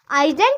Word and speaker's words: island: वैसे आइलैंड की स्पेलिंग तो ISLAND होती है, बट इसमें जो हमारा एस होता है वो क्या होता है? साइलेंट होता है, ठीक।